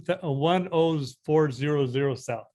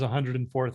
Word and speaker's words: 10400 South: or is uh 1 10400 south gotcha how do you say that 10 400 yeah 10 400 south yeah everybody says 104th out here but but yeah the